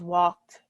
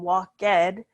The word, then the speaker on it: walked: example sue walked to work so walk becomes walked again it doesn't become walk dead we just say walked with the D sound